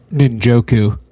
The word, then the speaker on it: Njoku: I I I totally slipped my mind how to pronounce his his last name at the moment. Um but guys, Njoku, Njoku, that's who I'm talking about.